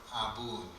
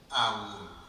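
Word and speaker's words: ܐܒܘܢ: The original word, the Lord's Prayer begins the word Abun, Awun. Slight pronunciation between East Syriac and West Syriac.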